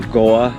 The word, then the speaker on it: Gore: the great town of gore or goa as the kiwis pronounce it not india so yeah